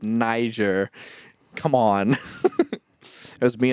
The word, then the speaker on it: Niger: I was like uh how do I I pronounce this and he's like no it's Niger come on it was me and a couple